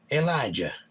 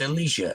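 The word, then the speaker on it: Elisha: then it says Jake I think it's pronounced Elijah no it's Elicia Elijah was the first man Elicia was Elijah's servant and then when Elijah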